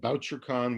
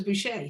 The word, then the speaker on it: Bouchercon: and there's something called BoucherCon, which is the mystery writers. is that Anthony gathering. Boucher? Yeah, that's how they pronounce it, BoucherCon. I always thought it was Boucher, so there, I learned something.